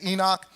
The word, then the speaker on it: Enoch: And Enoch, it says Hanoch, that's the way it's actually probably pronounced. We would say Enoch.